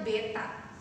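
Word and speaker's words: β: Selanjutnya, ini ya lambang ini dibacanya beta.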